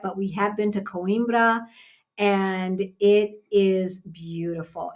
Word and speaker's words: Coimbra: very very beautiful so that's coimbra it's it's spelled like like coins c-o-i-m and then b-r-a coimbra um all right did we do it did